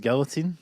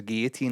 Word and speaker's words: guillotine: be here comes a guillotine instead of guillotine. What do you mean by that? It should be guillotine. Why? Cuz it's a French word pronounced guillotine.